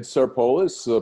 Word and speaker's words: Sarpolus: Today we have Sarpolus, pollster and founder of Target-Insyght. Did I pronounce that correctly?